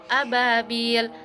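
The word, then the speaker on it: أبابيل: Hukum tajwid mad tabi'i pada kata ababil. Cara bacanya itu bunyi bi dipanjangkan dua harokat.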